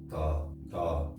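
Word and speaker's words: 다: It's kind of pronounced like a D. Do. Da.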